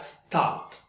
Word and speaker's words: stopped: e de característica entonces Esas palabras que tienen el sonido voiceless al final tendrán la pronunciación de una t de una t al final el pasado de stop sonará stopped stopped stopped work que termina con